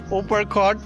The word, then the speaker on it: Uparkot: It's pronounced as Uppercut, and Yeah.